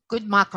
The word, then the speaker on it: Guntmacher: is always open well we had robert and pronounce ephraim your last name good morning right good michael we had robert goodmaker on the show today and he really gave